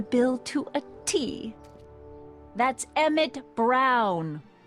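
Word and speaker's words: Emmett: to a te that's EMT Brown rhymes with clown which I'm beginning to think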